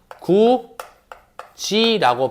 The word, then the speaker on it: 굳이: 형식 형태소가 오게 되면 얘 일단 뭐가 돼야 되냐면 연음이 돼야 돼. 구, 디라고 연음이 됐어. 오케이? 그럼 이제 디귿과 이 모음이 만났지. 이에서 무슨 말인지? 그러니까 얘 발음 어떻게 한다? 구, 지라고 발음을 한다는 거.